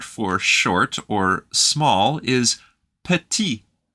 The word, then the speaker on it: petit: short or small is petit the letter at the end is silent we love silent letters in French but the one in